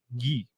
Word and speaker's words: Ye: how do you pronounce it, Rico? Yee.